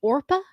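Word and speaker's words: Orpah: name orpa early life orpa Gil Winfrey her first name was spelled orpa on her birth certificate after a Biblical figure in the Book of Ruth but people mispronounced it regularly and Oprah stuck so she changed it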